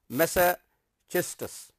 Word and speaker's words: Massachusetts: Frost attended high school in Lawrence, Massachusetts. This is its pronunciation is Massachusetts, and began writing poetry.